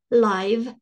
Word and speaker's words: live: This is not to live, like I live in Prague. That looks the same, but the pronunciation is different. This is live, as in the show is live, okay?